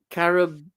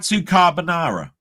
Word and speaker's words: carbonara: £1 Katsu Carabona." No, Katsu Carbonara. Thank you for pronouncing that right.